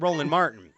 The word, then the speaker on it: Roland Martin: His name rhymes with Ronald Morgan, but it sounds like Smolin Smartin, but Roland Martin.